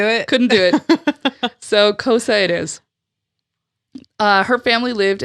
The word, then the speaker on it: Xhosa: Now, Xhosa is Xhosa, and I'm pronouncing it in the English version. Mm-hmm. It is not that. It is a click language. So I tried and tried and tried. The closest I could get is Xhosa.